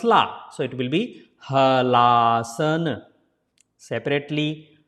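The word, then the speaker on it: Halasana: Hala asana. If you put together, then la becomes la. So it will be Halaasana. Separately Halaasana.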